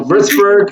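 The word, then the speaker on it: Würzburg: I like we were going to talk about Wartsburg obviously or and I know I got to say it right. I'll give you corrected. That's right. So Vzber is where I picked up skateboarding which is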